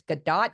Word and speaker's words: Godot: So and most people are pronouncing it, it's Godot, Godot. I'm like, it's Godot, it's waiting for Godot.